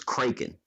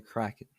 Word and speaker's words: Kraken: want to be replaced by the Kraken that's how it's pronounced how how else would